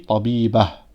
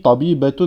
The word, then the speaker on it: طبيبة: À la fin d'un mot, quand on s'arrête juste après le mot, on ne va pas le prononcer en ta, on va le prononcer en ha.